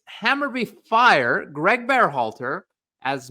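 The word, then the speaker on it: Hammarby: when Mr Greg be halter was fired from hamur it's hammerby fire Greg barh halter as manager citing team's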